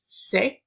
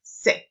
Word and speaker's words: sé: So just know that it's pronounced sé, like say in English, but shorter, sé.